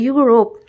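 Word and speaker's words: Europe: Start होता है यूरोप, लेकिन उच्चारण कहाँ होता है, य से हो रहा है यूरोप, तो एन नहीं लगेगा, ठीक है।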